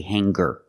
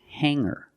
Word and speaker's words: hanger: r together hanger hanger there's no G sound I cannot say hanger I cannot say singer it's hanger and singer example he has hangers